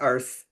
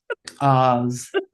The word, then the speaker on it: Ars: It's not Ars. It's Ours. Ours.